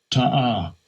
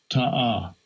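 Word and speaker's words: תעה: How you pronounce it? Strong's H8582. Ta'ah. Ta'ah.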